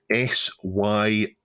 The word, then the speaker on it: Suyu: There is a new emulator coming out called SUYU, pronounced apparently Suyu, so that's a bit of a dig.